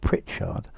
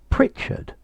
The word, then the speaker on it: Pritchard: george pritchard asked colonel this pronunciation of pritchard um you you haven't got it perfectly right let's see firstly i think your major problem is the stress um george pritchard pritchard but as your